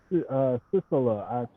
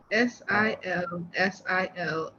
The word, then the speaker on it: Silsilah: Sisala. I was saying it wrong. The Sisala is spelled Silsilah. You're right. It's usually used by the Sufis. Silsilah.